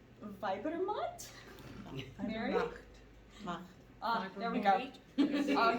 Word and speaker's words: Weibermacht: by asking a bunch of people how to pronounce. Weibermacht? Mary? There we go. Oh, yes, ma'am. All together. Macht. Weibermacht.